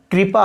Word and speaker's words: कृपा: और इसी प्रकार आपको मैं यहाँ बताना चाहूँगा, यह कृष्ण नहीं, कृष्ण है। इसी प्रकार आपको मैं कहूँगा, यह कृपा नहीं, कृपा है, कृपा।